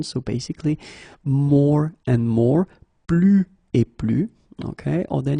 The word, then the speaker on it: plus: Okay, so you can see that I don't pronounce it final S.